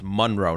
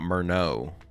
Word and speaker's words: Munro: Oh, it's Munro not Murno.